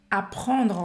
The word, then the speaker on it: apprendre: O verbo aqui é apprendre. Apprendre, apprendre, aprender. Tem dois P em francês. Apprendre, E a gente termina a pronúncia nesse R, né? apprendre, apprendre.